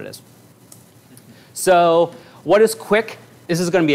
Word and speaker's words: QUIC: it is what it is so what is quick this is going to be a super quick overview quick I'm gonna no pun intended um then we'll talk about a little more later but it's pronounced quick it's a it's an attempt to do the